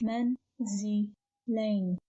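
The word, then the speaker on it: منزلين: of three syllables and pronounced as men zi lane menzelene means elaine now let's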